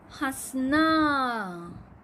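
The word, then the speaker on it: हँसना: यहाँ पर आपको जहाँ चंद्र बिंदु लगा है वहाँ आपका उच्चारण अलग होना चाहिए। तो पहला वर्ड है, पढ़ने की कोशिश कीजिए बच्चों, हंसना।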